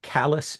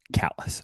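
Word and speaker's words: Callas: How do you want that pronounced? Oh, so his name is Callus Steel. Callus.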